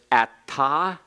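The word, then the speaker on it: אַתָּה: So the second person masculine singular is ata, and it's also pronounced the same way for the second spelling.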